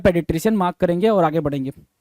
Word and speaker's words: paediatrician: पेडिट्रिशियन। क्या? पेडिट्रिशियन। क्या? पेडिट्रिशियन, पेडिट्रिशियन बोलते हैं सर।